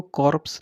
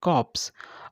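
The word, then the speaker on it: corpse: अ कॉप्स, ठीक है, are silent होगा, इसको हम इसको कॉर्प्स नहीं बोलेंगे, इट इज़ कॉप्स।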